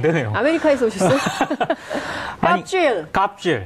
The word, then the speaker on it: 갑질: 근데 저 갭이라고 돼 있지 않습니까? 갭질 이렇게 될 수 있는 거 아닙니까?